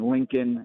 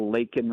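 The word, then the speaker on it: Laken: now uh you know saying Lincoln instead of lake and Riley um and then to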